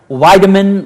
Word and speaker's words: Weidemann: We have an incredible guest, and her name is Erin Weidemann, like vitamin, and because the way it's spelled, it looks German.